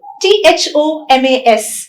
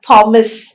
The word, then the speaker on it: Thomas: not pronounced as f or the it is pronounced as ter for example t-h-o-m-a-s is not thomas as we usually say it's thomas it's thailand